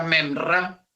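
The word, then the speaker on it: מימרא: verbo como la palabra y se pronuncia menra en el idioma arameo en el hebreo se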